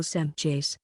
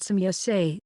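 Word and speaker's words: Semjase: case with Pledgerin names, like for example Semchase, which is pronounced Semyase. The last T is pronounced as the E in exist. E may not be pronounced as an I, because this would totally alter the meaning of the name.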